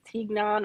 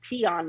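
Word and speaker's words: tignon: spelled t-i-g-n-o-n that would i thought it was tignan or tegnan law but it's teon law right and i hope i'm pronouncing that right because they have the pronunciation t-i-y-o-n anyway where this law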